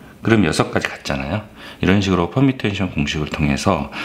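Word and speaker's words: permutation: 그래서 이제 퍼뮤테이션 공식이 나왔는데 퍼뮤테이션 공식은 6P3이라고 그래요. 얘를 발음을 퍼뮤테이션이라고 해요.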